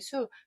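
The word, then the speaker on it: 宿: 신수열장이라고 했는데 여기서 중요한 부분은 별자리가 약간 발음이 바뀐다는 거. 진 발음으로 하셨다면 신을 하셔야 되고 잠잘 숙을 하셨다면 별자리 수.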